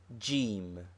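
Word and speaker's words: جيم: what is this sign Gene it is the letter G which is the English J but pronounced hard G in Egypt the initial form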